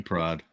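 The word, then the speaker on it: Pryde: But anyway, Kitty Pride, it's spelled P R Y D E.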